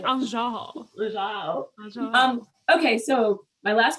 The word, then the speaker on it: Azhelle: Will you say my name? Azhelle. Because that's the way that's the way we would say it.